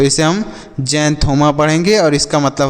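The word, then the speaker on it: xanthoma: इसे हम क्या पढ़ेंगे जैंथोमा पढ़ेंगे क्या पढ़ेंगे जैन थोमा तो एक्स का उच्चारण ज के रूप में तो जे एन से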